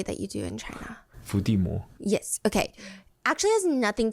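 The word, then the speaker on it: 伏地魔: It's rather the phonetic pronunciation of the word Voldemort. In Chinese, it's... Fudimo.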